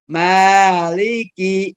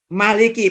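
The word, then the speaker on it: مَالِكِ: Maliki yaumin Maliki yaumidzid cara membacanya ada dua bisa panjang seperti saya baca tadi ada panjang bisa juga ada qiroah lain yang membacanya tanpa Alif Maliki yaumiddin Maliki pendek saja boleh itu tapi kalau saya ikut yang ada dalam hot atau dalam mushaf standar mimnya dipanjangkan Saya tidak menyalahkan ada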